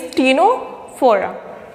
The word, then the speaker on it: Ctenophora: In this is the third phylum, and here C is silent, means Ctenophora.